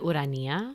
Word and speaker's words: Ourania: you say it so my name is wood Ania oh my god that's so much better than